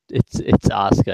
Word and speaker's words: Asuka: Pronounced Asuka. It's Asuka actually. I don't. William Regal pronounced it wrong. I guarantee.